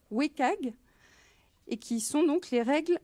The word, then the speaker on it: WCAG: Qui s'écrit WCAG et se prononce "Wécag", et qui sont les règles d'accessibilité des contenus web.